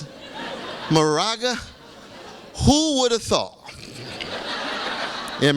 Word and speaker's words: Moraga: this is a special moment you are in morga huh is that how you pronounce it Moraga who would have thought in Moraga California and